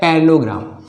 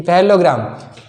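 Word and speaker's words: parallelogram: अच्छा कैसे प्रोनाउंस करोगे इसको, पैरालेलोग्राम कि पैरेललोग्राम? तो इसको देखो पैरेललोग्राम प्रोनाउंस करते हैं। ठीक है, पैरालेलोग्राम नहीं भूलने लग जाना, क्या बोलोगे इसको?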